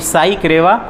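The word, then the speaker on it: SI Creva: तो primary NBFC company का नाम है SI साई क्रेवा। SI मतलब मैंने आपको प्रोनाउंसिएशन बताया, SI साई क्रेवा capital services limited, मास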